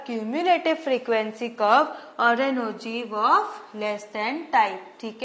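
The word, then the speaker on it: ogive: type ठीक है नाउ the term OG is pronounced as ओजी एंड इज डिराइवर Oggy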